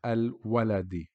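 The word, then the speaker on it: الولد: And when Alif Lam is applied to the beginning of the word, or when you see it in the beginning of the word, it is pronounced Al-Waladi.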